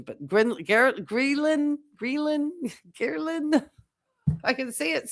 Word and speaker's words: ghrelin: The ghrelin, I say it, I think I always mess up the pronunciation, but ghrelin, I can see it spelled Gehrlin.